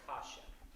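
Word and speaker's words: caixa: This is their version of a snare drum, but it's called a kasha. C-A-I-X-A. Kasha.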